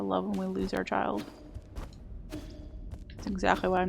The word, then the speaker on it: qi: Yeah, well, it's even just like I'm pretty sure that the QI word in this game is pronounced chi.